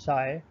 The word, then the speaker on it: psi: u sub a minus psi this symbol is pronounced as psi into u sub w minus u sub a